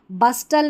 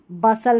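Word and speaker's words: bustle: T silent है। बस्टल नहीं बसल पढ़ना है।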